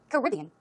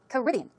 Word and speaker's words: Caribbean: First of all, number one, Caribbean. Caribbean. The stress goes on the second syllable.